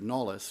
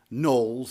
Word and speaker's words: Knollys: And its first and really greatest pastor was the man we want to focus on tonight, primarily Hanserd Knollys, or Knowles. It depends. There's different pronunciations.